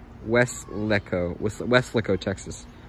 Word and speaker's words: Weslaco: people struggle with the pronouncing of weslaco it's pronounced wes lecco with weslico texas west lecco i see interesting west leco i was thinking